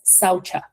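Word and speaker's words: शौच: Okay, so the first one is pronounced saucha. The C has a CH sound.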